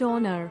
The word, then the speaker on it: honor: that begin with vowels the first letter of the word honor for example is a consonant but it's unpronounced in spite of its